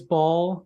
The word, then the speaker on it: Bhaal: So it's Bhaal. That's the only pronunciation I've ever seen.